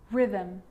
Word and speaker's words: rhythm: with a g-ghost ghost and with an R rhythm or rhyme good news that I is not usually silent it's usually pronounced except in the word business okay okay